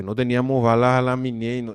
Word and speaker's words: Minié: Ellos tenían unas balas que se llamaban las balas a la minié. M I n i e. Miné, así se escribe.